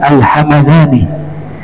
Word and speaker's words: Al-Hamadani: Syekh Abdurrahman bin Isa Alhamadani. Ya, kalau nama kota mimnya dibaca fathah alhamadani. Kalau mimnya disungkun dibacanya alhamdan alhamdani nama suku di Yaman.